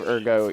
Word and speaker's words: ergo: We think we It annoys me that they say ergo instead of erggo, even though ergo is closer to the actual Latin pronunciation.